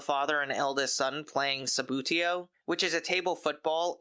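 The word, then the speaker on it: Subbuteo: In fact, I just learned that Sabutio is the proper pronunciation, whereas my brothers and I have been calling it Subuteo for decades.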